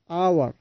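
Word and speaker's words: hour: উচ্চারণের সময় খেয়াল করবেন এখানে এইচ সাইলেন্ট থাকছে। আমরা উচ্চারণ শুরু করছি অ থেকে, অনেস্ট এবং আওয়ার।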